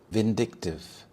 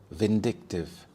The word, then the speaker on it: vindictive: Vindictive. Vindictive. The stress is on the second syllable. So, we have vindictive.